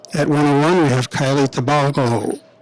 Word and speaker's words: Tabaldo: At 121 pounds, we have Bensoussan, and at 101, we have Kiely Tabaldo. Pronounce that. Tabaldo. Tabaldo, thank you.